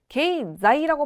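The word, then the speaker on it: 経済: 자, 그럼 내려오셔서 게이자이라고 발음되는 것은 경제가 있겠죠? 게이자이.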